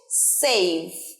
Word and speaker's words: save: এই ওয়ার্ডটা যেটা দেখছো সেটা হচ্ছে সেভ, সংরক্ষণ করা, বাঁচানো। দন্তস্ব ইউজ হয়, উচ্চারণ কি হবে?